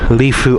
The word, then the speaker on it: Lifou: And somebody told me how to say the name of this island is Leu. Lefu Island and they've got all the the lifeboats, the tenders.